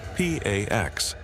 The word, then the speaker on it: P4X: He adopts a pseudonym P4X, pronounced P A X, a cheeky nod to enforcing peace through punishment.